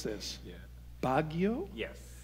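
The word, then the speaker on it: Baguio: served and you're gonna have to help me pronounce this yeah bagio yes bagio City First United Methodist Church which was not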